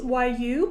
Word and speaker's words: YU: Yeah, so it's really elegant and beautiful, and it's like jade, since YU pronounced as Yu.